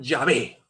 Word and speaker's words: Yahvé: Iglesia Católica número 206 las cuatro letras sagradas y H W H se pronuncian yahvé y Qué significa llave